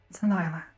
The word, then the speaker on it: Alyla: It's Alyla.